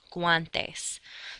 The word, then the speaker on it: guantes: However, if you do have the letter combinations of GUA, then you can make the W sound gua, like for gloves in Spanish, guantes.